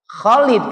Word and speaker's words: Khalid: Di mana-mana K digabung dengan H namanya bacanya Ho. Ayo dibaca tulisannya K H O L I D. Khalid. Padahal dibacanya apa? Khalid. Kenapa? Karena huruf abjadnya K dengan H. Jadi bacanya Khalid.